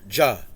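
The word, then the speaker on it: Jah: Ja. What's his name again? Ja. J-A-H. Yeah, Ja. Spell that.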